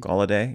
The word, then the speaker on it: Gallaudet: Tim Gallaudet, is that how you pronounce his name? Gallaudet, yeah.